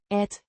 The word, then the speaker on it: at: Conjunction meaning that, pronounced At. similar to the English word at, indicating a subordinate clause.